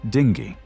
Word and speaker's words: dingir: The same rule applies to the word dingir meaning god. In its base form it is pronounced dingi. While in the form dingier e meaning by the god. The final consonant is retained.